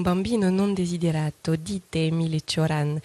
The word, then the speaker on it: Cioran: Dites-moi, Nicolas Suran... V-am spus că se spune Cioran! Qu'est-ce qu'il a dit là? Ça se prononce Cioran, hein, toujours.